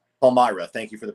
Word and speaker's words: Palmyra: Palmyra. Palmyra. Thank you for the pronunciation.